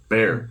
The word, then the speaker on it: Bexar: In Bexar County is. Bear County. Yeah. But You know how many Bear County deputies have corrected me on that?